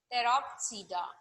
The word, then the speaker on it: Pteropsida: Again, the P is silent. Pteropsida.